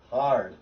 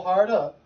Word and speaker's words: hard: Hard. Yes. But just no harda. Hard. Hard. No extra syllable.